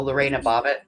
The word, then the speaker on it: Lorena Bobbitt: Oh, Lorena Bobbitt.